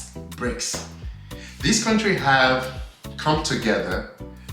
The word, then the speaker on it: BRICS: Africa bricks all right so it's spelled as b-r-i-c-s bricks this country have come